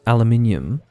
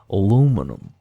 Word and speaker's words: aluminium: the Amer can say airplane as far as aluminium is concerned um that's obviously another example of that aluminium is just a little bit too complicated to say so they just say aluminum aluminum just the the shape I have to